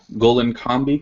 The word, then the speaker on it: Gollinkambi: Um, he's been involved with several heathen groups and is currently a member of Golen Combi Kindred. Is that how you pronounce that?